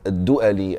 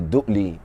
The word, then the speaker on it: al-Du'ali: So now one day, Abu al-Aswad al-Du'ali, and we are also allowed to say Du'li, who worked for Ali